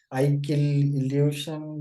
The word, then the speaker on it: ic-k,i'll-u-shun: It's like I kill illusion, but it's also like it's a wordplay.